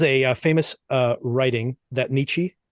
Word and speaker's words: Nietzsche: famous uh writing that Nichi did or Nietzsche I guess you pronounce it and the quote he